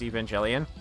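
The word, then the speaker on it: Evangelion: Neon Genesis Evangelian and people like I don't like that you pronounce the G like a J. And it's like okay but you don't call you don't call them evangelicals and you don't and you don't talk about angels and call them angels. It's it's a it's it's a it's J it's J evangelian. It's not a hard G.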